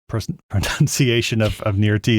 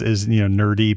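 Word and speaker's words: Nirrti: I did like how Jack keeps referring, like his pronunciation of Nirti is nerdy basically, or nerdy. It just sounds like he's saying nerdy.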